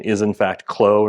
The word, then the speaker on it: Clos: um and I'll mention that yes the correct pronunciation is in fact CL not CLA so um for everyone in the room uh